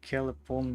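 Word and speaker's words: klepon: First, kelepon means So, what is your It's pronounced like telephone.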